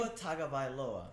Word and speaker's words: Tua Tagovailoa: Even though DJ Ugalele, or however the hell you pronounce it. Don't you have Tua Tagovailoa on your team? Tua Tagovailoa.